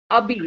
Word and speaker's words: Abir: Am I pronouncing it correct? Because I'm going wrong somewhere. Abir, yeah, whatever. It's Abir.